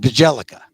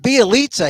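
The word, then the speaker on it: Bjelica: bialitza whose name look looks like you you pronounce it bajellica but b eliza he looks like he's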